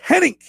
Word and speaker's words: Hennig: Hennig, producing and Hennig.